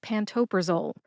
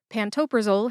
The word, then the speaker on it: pantoprazole: It is pantoprazole. Pantopraole has four syllables. That's pan like pancake, toe, like the toes on your feet, pra like the middle of the name Oprah, and zol, which rhymes